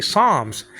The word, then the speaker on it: Psalms: Like Psalms, you don't pronounce the P in Psalms. So you say Psalms.